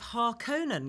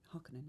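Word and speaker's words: Harkonnen: York ComicCon lots of har Conan going on and I was like there's a double n there the clues in the double n but also it's uh Scandinavian H hakan is it yes we as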